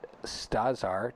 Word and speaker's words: StazR: with the folks at studs are check them out at Starcom they are you spell that sta Zr dot-com so like stars the TV channel but not because the Z comes before there are all right